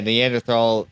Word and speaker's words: Neanderthal: looked caveman like with Neanderthal Neanderthal. Yeah, Neanderthal feature. H is silent.